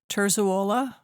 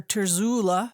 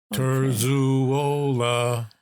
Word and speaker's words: Terzuola: don't think so no it's pronounced exactly the way it's spelled turola okay well it's it's